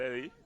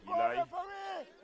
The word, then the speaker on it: Eli: Iman, you are Ellie. Eli. That's the pronunciation.